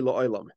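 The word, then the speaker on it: לעולם: La'olam, forever, is spelled without a vav. So you put a cholam on the ayin. La'olam, the ayin has a cholam, but it is spelled without a vav. So it should actually be pronounced as la'olam. La'olam means for secret, to be hidden.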